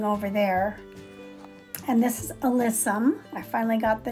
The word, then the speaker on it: alyssum: And this is alyssum. I finally got the name pronounced right.